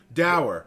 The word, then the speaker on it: dour: D-O-U-R, like sour with a D. Oh, I spelled it wrong. I know, you spelled the W, because I said not like dowry.